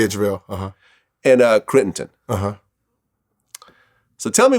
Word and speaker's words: JaVale: So I guess there was a card game between JaVale McGee. Am I pronouncing his name? Yeah, JaVale.